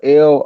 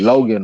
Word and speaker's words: Loughan: I can't remember how they was pronouncing that shit, but it's Tommy and his last name is spelled Loughan. So like Logan or something. He was a champ from 27 to 29, and he was cold with it, Kurt. I think his name is Lawlin.